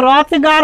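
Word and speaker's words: Hrothgar: বানানটা মনে রেখো এইচটা সাইলেন্ট আছে। ইংরেজি ভাষাটা এমনি অনেক লেটার ওয়ার্ডের মধ্যে প্রেজেন্ট থাকে কিন্তু সাইলেন্ট থাকে। এখানে রথগার হবে, উচ্চারণটা রথগারের মতো হবে না।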